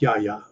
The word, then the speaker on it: Yahya: Okay, so it is pronounced Yahya. Okay.